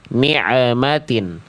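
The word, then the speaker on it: نِعْمَتَ: Natin bunyi ain dengan ma tidak boleh ada jedah ning nikmatin, tapi juga tidak boleh memantul. Nmatin jadi tanpa memantul suaranya sedikit mengalir tanpa tertahan atau terputus.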